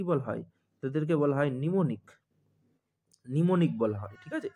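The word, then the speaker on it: mnemonic: তাদেরকে বলা হয় নিমোনিক বলা হয়। ঠিক আছে, এম প্রোনাউন্স হবে না এক্ষেত্রে, নিমোনিক।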